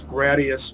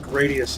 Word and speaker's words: Gradius: Gradius 3, which I used to pronounce Gradius, but Farewell, I've since found out that Gradius is the correct pronunciation.